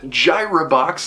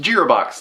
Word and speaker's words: Girabox: I actually asked the developers if it was pronounced Girabox, like how it's said in Gyroscope, and he quickly wrote back and said, no, it's pronounced Girabox, like how it said in our trailer.